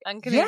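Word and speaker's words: Uncanoonuc: And then I go to Uncanunic or whatever it is. Everyone's going to make fun of me. You said it right that time. Nope. Did I? You said it right. Uncanunic.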